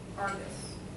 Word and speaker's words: Argus: What was the significance of her handing her over to Argus? Right, that's how you pronounce it? Argus, the guy with 100 eyes who never sleeps.